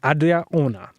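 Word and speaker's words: Adria Arjona: The film stars Glenn Powell and Adria Ona. I believe I said that right, because everyone's like messing up her name. Who is it? Adria Ona. Adria Ona? You spell it Arjona. Adria Ona.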